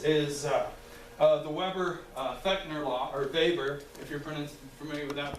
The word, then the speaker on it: Weber: And of course, one of my favorites is the Weber-Fechner law, or Weber, if you're familiar with that pronunciation.